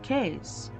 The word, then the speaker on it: Keyes: you the papers Lord case Lord Keyes the British pronunciation of the name would sound as if spelled case I realized Case Case